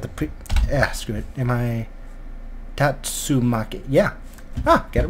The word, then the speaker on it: Tatsumaki: power town Tamaki it I really hope I'm pronouncing that right got the pre asked am i Tatsu Maki yeah ha get it right the first time